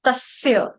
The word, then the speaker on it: तस्य: भवती संपद अजातस भारत तस नहीं आएगा माता जी तस आएगा सपेरे वाला स सूरज वाला यहां पर ठीक है यहां पर वो नहीं शरबत वाला श नहीं है। तस्य सभी भक्तों से रिक्वेस्ट